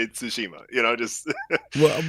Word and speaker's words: Tsushima: pronounce ghost of what so the natives in Japan they say Tsushima so it's kind of like intonation start I but I'll